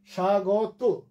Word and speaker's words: স্বাগত: এরপরে আছে স্বাগত। শয়ের নিচে ব ফলা আছে, উচ্চারণ হলো না, শুধু শয়ে একটু জোর পড়লো, এই জন্য তালব্য হয়ে এসছে স্বাগত।